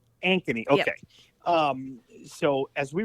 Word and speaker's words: Ankeny: Yeah, well, is it Amkey? Is that how you say the name of the town? I think that's how you say it. But it was one of the more Ankeny. Ankeny.